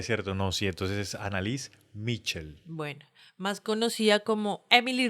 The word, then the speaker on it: Anneliese Michel: Para empezar es sin T, Mitchell. Es Yo sin- le estoy metiendo como una T. Es sin T, ¿cierto? No, sí, entonces es Annalise Mitchell.